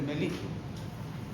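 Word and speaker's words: mellitus: Aunque suene paisano, pero así se pronuncia. Diabetes melitus.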